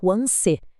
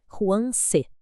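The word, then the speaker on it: 黄色: A pronúncia pede o uso do segundo tom, aquele som ascendente que eleva a voz Juan C.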